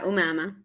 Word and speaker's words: Omama: Welcome, Omama Y. Say it right? Umama. Yeah, Umama. You're close though.